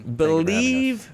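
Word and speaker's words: Blive: Believe Real Estate, but it's spelled B-L-I-V-E. Where does this concept come from?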